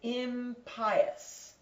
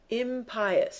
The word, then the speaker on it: impious: Edomite how impious impious some people pronounce it impas how impious how impious how low